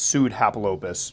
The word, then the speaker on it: Pseudhapalopus: on these guys and I think I keep kept mispronouncing your name is pseudo its sued Happel opus so hopefully I get